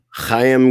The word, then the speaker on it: Chaim: I don't even know how to pronounce the I think it's Chaim. Chaim Gazzoli. That's the proper way to say it. Chaim. Yeah, that's not even making fun. I'm pretty sure that's how you say it.